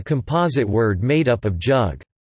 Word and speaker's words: jug: The name Yugoslavia, an anglicized transcription of Jugoslavia, is a composite word made up of jug, yug, with the J pronounced like an English Y and Slavia.